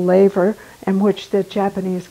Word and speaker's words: laver: was studying was for fyra which we call Laver and which the Japanese call nori you know I think it might be pronounced laughter what do you know is it laughing okay levar thank you hop in any time to correct